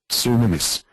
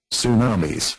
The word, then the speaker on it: tsunamis: So in this next window, which is say it like this, I can put in su, me, so I can actually kind of figure out how it should be pronounced. Give it a test. tsunamis.